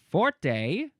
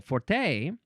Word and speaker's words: forte: Uh, you could also say for number two, you could say forte, but you got to put a little bit of that Italian accent on it. Forte. Um, you could also say forte. You can emphasize the second syllable forte.